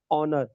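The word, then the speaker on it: honour: ही इज़ एन ऑनर। H silent है ऑनर vowel sound दे रहा है तो एन लगाएंगे ऑनर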